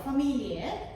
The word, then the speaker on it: Familie: familie, 가족이란 뜻이죠. 자, 가족이란 단어 강세 어디로 갑니까, 여러분? 그렇죠. 이음절에 갑니다.